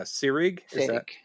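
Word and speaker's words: Seyrig: but uh yeah how did you uh you pronounced her name correctly Delphine uh sirig setting just like Ingrid pitch she kind of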